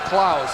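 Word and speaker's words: Claeys: night said uh is he spells his name C L A E Y S. He pronounces it Claus.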